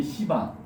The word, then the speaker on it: 시바: 그다음에 파괴의 신는 이제 시바. 발음을 세게 하시면 안 돼요.